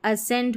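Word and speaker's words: ascend: Muscle नहीं मांसपेशी जो रहती है ना वो और यहां पर देखिए इसको असेंड पढ़ेंगे।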